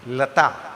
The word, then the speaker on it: Lata: Lata Mangeshkar. And that is the correct pronunciation.